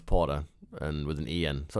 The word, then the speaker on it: Porter: The last one, Potter. Spelled with with an A at the end. Potter. You know what? People call me or Potter all the time, and even though it's Porter and with an EN.